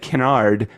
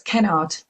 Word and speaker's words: Kennard: Special thanks to Susan Kennard. Did I pronounce it right? I know I always said Kennard, but it's the wrong emphasis on the wrong syllable. It's Kennard, correct? So it's Kennard.